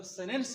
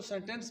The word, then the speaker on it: sentence: इस लफ्ज़ को आजकल के मॉडर्न ग्रामर के अंदर सेनेंस पढ़ते हैं, इसमें टी साइलेंट किया हुआ है, लेकिन आप इसको सेंटेंस भी पढ़ सकते हैं और सेनेंस भी पढ़ सकते हैं।